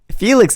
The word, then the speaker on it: Felix: So, Felix is the right way to say it.